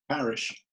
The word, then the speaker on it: Parish: Okay, will you pronounce that for me, please? Parish.